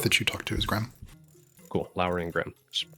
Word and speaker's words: Grem: I said it with a Y, but I don't want to say it wrong. Who are we talking about? The guy that I met with. Grem. Grim, okay.